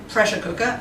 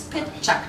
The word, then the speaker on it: PechaKucha: what it doesn't mean it's not pressure cooker it's not Machu Picchu and it's not projector light it's pet check tonight that's right and